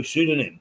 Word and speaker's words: pseudonym: It's got silent. Maybe it's just a misspelling. Oh, pseudonym.